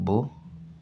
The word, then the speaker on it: beau: So we begin here we have bo that's the pronunciation bo which means handsome.